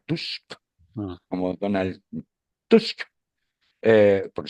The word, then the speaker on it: Tusk: Gobierna el primer ministro, que es el señor, siempre olvidado Tusk, que no se pronuncia Task, se pronuncia Tusk, como Donald Tusk, eh,